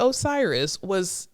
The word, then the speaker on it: Osiris: But it looks like ostrich. But it's Osiris.